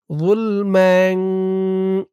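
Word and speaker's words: ظُلْمًا: লাম পেশ যুল, মিম দুই জবর ম্যাং, ম্যাং। গুন্না হবে, ইকফা গুন্না। যুলম্যাং।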